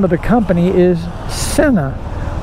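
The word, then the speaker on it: Sinna: name of the company, and I have been mispronouncing it for years. I've been calling it Cena, and apparently the real name of the company is Cena, like S-I-N-N-A.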